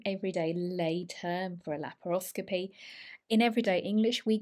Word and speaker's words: laparoscopy: This is how we pronounce it in the UK, laparoscopy. So the stress is on the O, laparoscopy, laparoscopy.